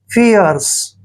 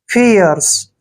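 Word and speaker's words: fierce: एसे आर करेंगे और सी को स पढ़ेंगे ऐसे फियर्स फियर्स फियर्स का मतलब होता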